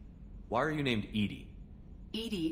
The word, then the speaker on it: EDI: are you named edie edie is the phonetic pronunciation of edi that is an acronym for enhanced defense intelligence why are you named